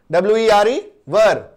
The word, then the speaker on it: were: यू, वी, they, WERE वर, वेयर नहीं बोलो, वेयर गलत हो जाएगा, ठीक है।